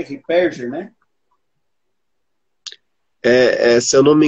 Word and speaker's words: Ripperger: O autor desse livro, Pilares da Santa Igreja, o nome do padre se pronuncia Padre Shed Ripperger, né?